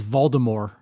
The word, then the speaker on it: Voldemort: And the first book, maybe first two books, he pronounced it the whole thing is Voldemort. No T. Like silent T.